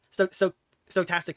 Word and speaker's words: stochastic: Stochastic. It's stochastic terrorism, right? That's how you fucking pronounce it.